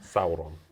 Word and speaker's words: Sauron: right how do you say that Sauron saon Sauron yeah you see he gets pronunciation not me so much anyway he moves